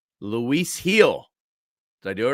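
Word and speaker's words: Luis Gil: needles if I get get this one right Lis heel did I do it right yes yes Luis heel correct just a pronunciation right here that's what they call me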